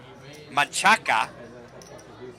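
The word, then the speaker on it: Manchaca: So, so the two streets in Austin, you have Machaka, which is the proper Spanish way to pronounce that name, but all the locals call it Manshack.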